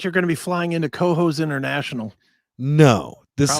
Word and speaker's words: Cohoes: Yeah, it's spelled COHOES, like hose. Cohost?